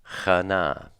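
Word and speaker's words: חנה: It is, it's spelled chet, nun, he, and pronounced chana.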